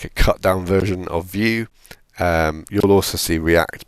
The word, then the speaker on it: Vue: JavaScript library it's based heavily on vue.js which is spelled Vue Alpine is like a cut down version of view um you'll also see react but react requires